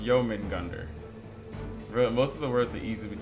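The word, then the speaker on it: Jörmungandr: It's pronounced Jermungandr.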